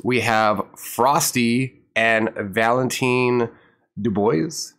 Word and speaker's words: Dubois: And for our new guests, we have Frosty and Valentin Dubois. Is that how you pronounce it, Valentin? Yeah, it's pretty close. It's Dubois, but Dubois is pretty good, pretty good.